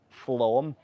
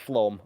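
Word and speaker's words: Flåm: to dock in well, it's written as Flam. I think you pronounce it as Flom. Steph, if you're still here, you're going to hit me for saying that wrong.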